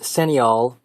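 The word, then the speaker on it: cineole: Pub Med the 18 senol that's c i n e o l e it's pronounced senol is a natural monot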